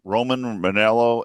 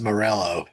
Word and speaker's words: Morello: that's pronounced Morello. I don't care. Morello. It's like I'm reading this going, that is Morello right there.